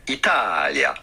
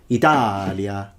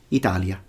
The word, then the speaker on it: Italia: Italia. No, no one says Italia, it's Italia, Italia. Yes, it's stressed, but that's too much. Like literally, no one speaks like that in Italy.